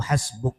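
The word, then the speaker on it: حسبك: Quran dengan kalimat hasbuka yaitu hasbuk dibacanya hasbuk tulisannya hasbuka hasbuka cukup untukmu maksung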